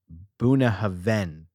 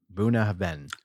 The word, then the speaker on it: Bunnahabhain: website I'm hearing that the BH sounds like a v in Gaelic grinder would be very proud here and he would know how to pronounce this buah Haven is how they're saying